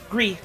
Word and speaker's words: Gris: Gris. I always assume it's pronounced gris and not gris because it's supposed to be like gray in French.